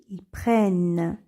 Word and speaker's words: prennent: nous donne elle prenne lorsque le E se trouve devant deux consonnes il se prononce et on dit ils prennent et pour les exemples